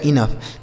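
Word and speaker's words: enough: मेरे दोस्त स्लफ आगे इ एन ओ यू जी एच तो इ एन से दोस्तों हो गया इन और ओ यू जी एच का उच्चारण फ हो गया इनफ तो यानी ओ यू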